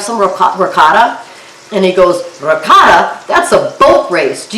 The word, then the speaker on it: ricotta: And Wendy, I appreciate as an Italian, the way you say it, ricotta. Ricotta.